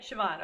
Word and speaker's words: Siobhan: Wait, I have to look up how you pronounce this again. It's Siobhan, right? Siobhan.